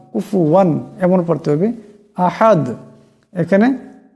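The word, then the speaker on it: كُفُوًا: এটাকে ধ্যানে রাখতে হবে এখানে ফার উপর পেশ আছে এটাকে সাকিন করা যাবে না পেশ পড়তে হবে কুফু কুফুয়ান কুফুয়ান কুফুয়ান এমন পড়তে হবে আহাদ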